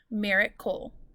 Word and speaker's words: miracle: on accident accident meaning if i give you the word miracle which ends with a c-l-e i say merit cole and mira is my accented syllable if i said miracle and i accented the c-l-e it would say america see how funny that sounds very cool think about